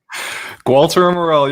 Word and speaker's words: Gualter Amarelo: to a quarter million gualtar amarello did i say it right walter morell you got it brother hey as long